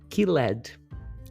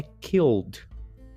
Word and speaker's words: killed: gente que é brasileiro tem a tendência a querer falar Ked Killed mas a pronúncia correta é Killed E aí vamos lá